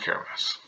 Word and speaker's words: Kiritimati: So you can see it is the other side of the world, and the island of Kiritimati, or Kirimas, as it should be pronounced.